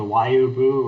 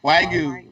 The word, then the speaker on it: Wagyu: Have you ever had that Japanese beef, the Wayubu, or however you Wagyu? Wagyu. Wagyu, yeah. I went. Don't pronounce it wrong if you're Canadians.